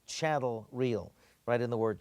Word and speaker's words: chattel: Statement 20 says leasehold estates are called chattel real. Write in the word chattel real, rhymes with cattle.